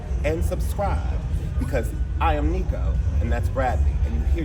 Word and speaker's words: Nicco Annan: My name is Nico An. That's N I C O. A N A N.